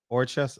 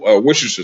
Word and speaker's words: Worcestershire: Orchest.